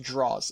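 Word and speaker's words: Droz: uh his i believe his middle name is pronounced draws it's d-r-o-z so it's andrew draws palermo who uh also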